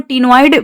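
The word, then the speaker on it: ctenoid: ऑस्टिक्थिस की बात करें तो यहाँ पे साइक्लॉइड, जिसको टीनोइड भी कहते हैं, यहाँ पे सी साइलेंट है, तो टीनोइड या फिर साइक्लॉइड स्केल्स यहाँ पे देखने को मिलता है ऑस्टिक्थिस के केस में।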